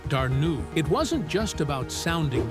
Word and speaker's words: Dana: She chose Dana and pronounced it Darnu.